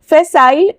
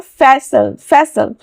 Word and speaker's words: facile: Next is फैसाइल और फैसल। यहाँ पे दोनों प्रोनाउंसिएशन है, फैसाइल या फैसल।